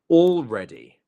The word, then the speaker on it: already: Already. Already. The stress is on the red bit. Already. Not already or already.